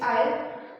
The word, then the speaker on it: isle: It's isle. I-L. L is silent.